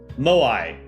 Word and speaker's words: Moai: Moai is how they're pronounced.